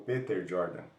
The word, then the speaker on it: Peter Jordan: Eu estou aprendendo com o Peter Jordan, que é ou Peter Jordan, que seria a pronúncia certa.